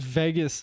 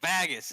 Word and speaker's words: Vegas: was saying save vegas and he would go vagus and i would say vegas vegas yes you have to realize that as